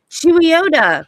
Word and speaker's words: Chuluota: Chuluota? Now, That's how you say it.